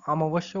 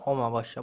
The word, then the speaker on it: অমাবস্যা: বলবো অমাবস্যা বোঝা গেল আমি কিন্তু বলার সময় অমাবস্যা বলে ফেলি কিন্তু একচুয়াল উচ্চারণটা কি হবে অমাবস্যা বোঝা গেল তাহলে এখানে এগুলো নিয়ে